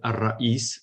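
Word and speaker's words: الرئيس: Esta obra é a obra de Ar-Rayyash, que na realidade esta é uma espécie de alcunha que em árabe pronuncia-se da forma seguinte: Ar-Ra'is. Ar-Ra'is é o capitão.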